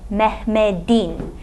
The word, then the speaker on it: Mehmet'in: say "Mehmet'in" Now notice this "t" is still written as at a but it's pronounced as a "d" - "Mehmet'in" even though it doesn't